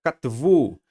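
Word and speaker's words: כָּתְבוּ: Olha aqui, a palavra katvu. Katvu, ó, aqui debaixo do Tav, existe esse Shivá aqui, que ele está sendo precedido pelo quê?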